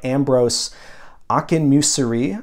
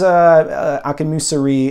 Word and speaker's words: Akinmusire: that I wanted to bring up is by Ambrose Akinmusire, I believe is how you pronounce his last name. And the title of the album is called Owl Song. It's coming out on December 15th. This is Akinmusire in a trio format.